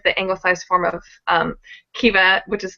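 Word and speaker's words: Caoimhe: anglicized form of um kiva which is filled with a lot of extra letters that are not pronounced genetically at least by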